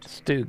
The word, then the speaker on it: StuG: it the stug st capital G for short stug is how they pronounce it though Bud remember we asked them